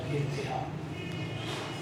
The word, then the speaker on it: انتہا: تو میری حالت کی انتہا نہ رہی. تلفظ ہے انتہا, انتہا کسے کہتے ہیں انتہا.